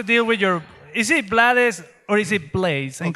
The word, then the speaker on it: Blades: He was English, so the original pronunciation is Blades.